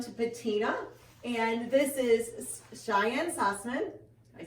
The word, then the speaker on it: Cheyenne Sussman: So we decided to head down to Patina, and this is Cheyenne Sussman, I said it right?